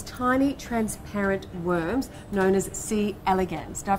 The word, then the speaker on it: C. elegans: Now, he studies these tiny transparent worms known as C. elegans. Did I pronounce that right?